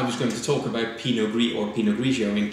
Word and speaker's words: Pinot Gris: but they're actually not they are the same variety just different pronunciations of it pinot gris is the French pronunciation in a ratio of the Italian pronunciation he knows that the